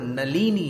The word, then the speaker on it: नलिनी: मारभ्यते तनुधियापि तव प्रभावात्, चेतो हरिष्यति सताम नलिनी दलेषु। नलनी नहीं बोलना, नल बोलने की बहुत आदत होती है लोगों को, यहां पर नलिनी है।